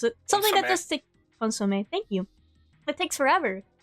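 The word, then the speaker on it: consommé: I don't know how to pronounce it. Something that just takes... Consomme, thank you.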